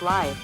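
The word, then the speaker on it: lithe: t h e that's pronounced life life okay that took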